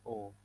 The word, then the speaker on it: au: Yang kedua, j'habite à Quebec au Kanada. Quebec itu nama kota di Kanada yang penduduknya banyak yang menggunakan bahasa Prancis. J'habite à Quebec au Kanada. Karena Kanada itu negara maskulang. Jadi dia AU. Dibacanya O.